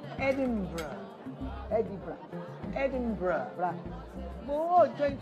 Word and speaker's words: Edinburgh: It's pronounced Edinburgh.